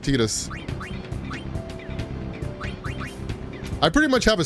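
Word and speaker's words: Tidus: Square says the pronunciation is Tetus because his Japanese pronunciation is TA.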